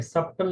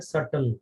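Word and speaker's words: subtle: ध्यान रखना इसमें बी साइलेंट है, ये सब्टल नहीं पढ़ते हैं, इसको क्या पढ़ते हैं? सटल, बी साइलेंट होता है।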